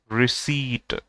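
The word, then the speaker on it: receipt: रिक्रूट ठीक है, रिसीट, देखिए pronunciation of this word should be रिसीट, रिसीट ठीक है।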